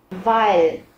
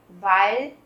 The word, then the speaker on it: weil: Weil, bởi vì, các bạn chú ý là mình cũng không nói là weil. Rất nhiều bạn hay phát âm là weil, và các bạn quên mất chữ L cuối. Các bạn cong nhẹ cái lưỡi lên để tạo thành cái âm L thì nó mới đúng nha các bạn.